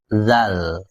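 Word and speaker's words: ذال: dalal mirip ya namanya bunyinya pun mirip kayak huruf d dalam bahasa Indonesia tapi ada unsur znya Zal atau sebaliknya mirip huruf z tapi ada unsur d-nya dalal kayak de Bukan da di du kayak jet bukan ja ji Ju tapi dzi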